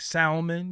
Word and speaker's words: salmon: You probably be like Salmon. You pronounce the L. Nah.